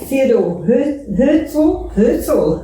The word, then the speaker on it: Theodor Herzl: Here's Marianah Lourens with Art and Entertainment, and I'm here at Theodor Herzl.